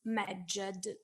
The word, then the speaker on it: Medjed: name of our creature, who we conventionally pronounce Medjed, because the Egyptian language only recorded consonants and not vowels. And so to be able to pronounce these three consonants together, Medjed, we must add something in between, and we conventionally add a vowel Eve.